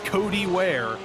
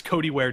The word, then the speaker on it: Kodi Wear: iRacing whose name is Cody Ware but it's spelled k-o-d-i-w-e-a-r completely unrelated it's their real name but it's Cody Ware to spell differently and I think that's